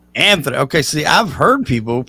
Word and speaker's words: Antoni: Antoni Corone, that's how it's pronounced. Anthony. Okay, see, I've heard people announce your name as Antonio.